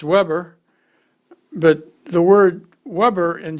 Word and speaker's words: Weber: have been Vilhelm Weber and it would be pronounced Weber but the word Weber in German or labor